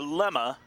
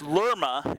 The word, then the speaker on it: Lerma: strike against her leticia lemma make that two strikes lama the freshma freshman and that's lerma actually so we'll get the pronunciation correct here we don't want